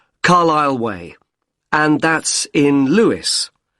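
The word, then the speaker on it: Lewes: r l i s l e you don't pronounce the s Carlisle way and that's in Lewis l e w e s and is there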